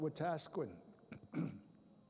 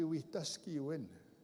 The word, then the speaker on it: Wetaskiwin: People call it Wetaskiwin. Anybody know where Wetaskiwin is? It's in Alberta. It's right by my reserve, but it's actually Wetaskiwin.